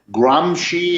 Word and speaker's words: Gramsci: It's Antonio Gramsci is the way he pronounced it.